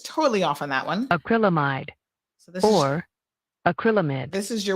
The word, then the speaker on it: acrylamide: wrong let's see um it is let's see acrylamide acrylamide acrylamide so it's called acrylamide or acrylamide i was totally off on that one acrylamide or acrylamide this is your word of the